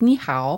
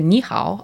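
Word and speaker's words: 你好: And the tones for ni hao are up and down, is the best way I can explain it. So I think by saying ni hao, I'm okay.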